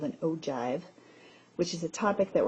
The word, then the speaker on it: ogive: First of all, you would want to know that it is pronounced ogive.